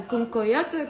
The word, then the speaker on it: cancoillotte: j'ai de la cancoyotte. Alors on fait une quiche à la cancoyotte. Je ne connais absolument pas dans les marques de cancoyotte. Je suis envahie de cancoyotte. Soit bien d'un cancoyotte que de la cancoyotte.